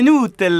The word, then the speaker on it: Nutella: majorité se trompent évidemment on ne dit pas nue mais nous tel là parce que le u se prononce ou en italien d'ailleurs je dois vous